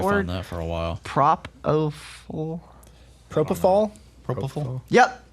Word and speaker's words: Propofol: Propofol. Propofol? Propofol. Yep, Propofol.